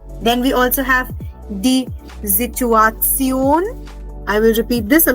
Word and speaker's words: Situation: Then we also have the Situation. I will repeat this. A lot of you were having trouble in pronouncing this word. The Situation. Remember, S is pronounced as Z.